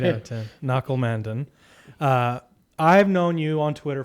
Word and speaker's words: Nakul Mandan: Audacious Ventures headquarters here in San Francisco with Nakul Mandan. Did I get it? Yeah. Nailed it? Nailed the pronunciation. Give it a shot, Sterling. 8 out of 10. 8 out of 10. Nakul Mandan.